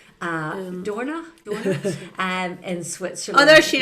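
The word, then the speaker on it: Dornach: It's in Dorna? Yeah, perfectly pronounced, Lynda.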